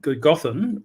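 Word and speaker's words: Gododdin: And I noticed you said Gothen, which is the correct way to pronounce it. A double D in Welsh is a TH sound.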